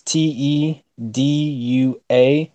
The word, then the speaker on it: Tedua: The first guy I would say is Tedu. I'll spell it out. It's Tedua.